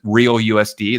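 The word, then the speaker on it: RLUSD: timeline it's called the RL USD uh they pronounce it real USD that's very interesting that's coming online right away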